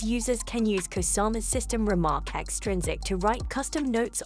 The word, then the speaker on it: RMRK: Remarque, pronounced Remark, is a fantastic project that allows NFT creators to build a system of infinite complexity using NFT Legos.